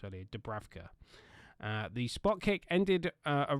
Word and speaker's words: Dubravka: Sorry, I did hear it pronounced earlier. Dubravka.